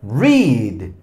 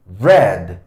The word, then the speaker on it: read: En su forma infinitiva se pronuncia read. Read, pero es un sonido largo, ya. Ya no es ninguno de estos dos. Pero en su forma pasada y pasada participia se pronuncia como el color rojo. Red.